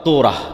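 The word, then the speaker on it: תורה: মুসা আলাইহিস সালাতু ওয়াস সালামের কওমকে যখন তাওরাত দেওয়া হলো, তোরাহ বলে ইহুদিরা উচ্চারণ করে, যে তোরাহ, যখন তাওরাত দেওয়া হলো,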